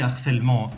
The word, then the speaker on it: harcèlement: Mais ici, harcèlement est un H, le H de harcèlement, est un H aspiré, ce n'est pas possible.